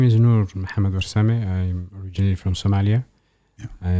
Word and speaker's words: Nur Warsame: I'm Ahmed Uruch, and today's guest is Nur Warsame. Welcome. Brother, did I pronounce that right?